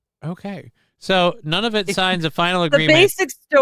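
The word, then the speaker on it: Nunavut: Uh and again, this is how it's spelled. N U N A V U T. None of it.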